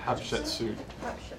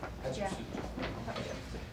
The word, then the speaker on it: Hatshepsut: Hatshepsut. You say shoot? Yeah. Hatshepsut.